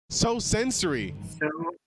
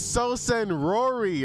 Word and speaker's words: sosensory: So sensory. So sensory. I thought it was so senrory or so.